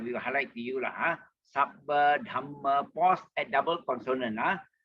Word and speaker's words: sabba: Sabba, Dhamma, pause at double consonant. some consonants which are repeated in Pali and all that. Remember, pause slightly between the double consonant. That means Sabba. We say Sabba, Dhamma, Dhamma.